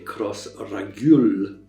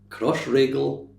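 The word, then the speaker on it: Crossraguel: If you read it just as you see it, you might say cross ragul. Uh, but no, it's one of these puzzles. Easy way to remember. It rhymes with bagel. Crossregel.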